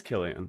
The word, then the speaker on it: Cillian: Cillian, is it Cillian? Killian? Cillian? Oh, am Cillian? I saying it wrong? I thought it was Killian. I don't know. You're the one with the British boyfriend. Asked him how they say it in the UK. I'm pretty sure it's Killian. Hi, I'm Dev, the oldest.